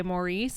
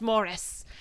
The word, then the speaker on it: Maurice: point of contention where people would say Maurice and he's like it's pronounced Morris.